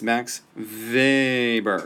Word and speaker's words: Max Weber: I know that's in W but you actually pronounce it with a uh because he's German and in German w's Arva so it's Max Weber anyway so Max Weber um he worked there's a lot he's a